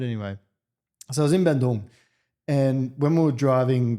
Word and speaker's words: Bandung: I love the way you pronounce it. Is that Bandung.